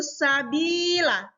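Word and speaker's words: سبيلا: satu kata berikutnya yaitu Sabila Sabila itu Mad iwad karena lam alisnya ini berharokat fathah tanwin dan di waqaf jadi cara membacanya tanwinnya ini dihilangkan Oh ya Sabila Sabila entar sabilan buka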